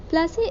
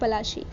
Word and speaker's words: पलाशी: प्लासी इज an anglicised pronunciation of पलाशी। प्लाशी शब्द का English pronunciation है पलासी।